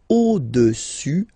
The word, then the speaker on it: au-dessus: Le cube est au-dessus, final S not pronounced here, au-dessus du cylindre.